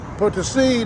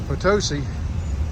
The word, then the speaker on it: Potosí: And for those who think it's San Luis Potosí, or Potosi, they're wrong. They pronounce it Potosí.